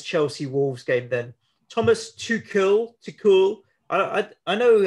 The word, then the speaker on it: Tuchel: Thomas Tuchel. I know how to pronounce his name, but I feel like it's a name that I can muck around with.